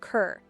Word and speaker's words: Kerr: His parents were Scots, using the Scottish pronunciation of Kerr, but in the English royal court he was known as Robert Carr, and then was referenced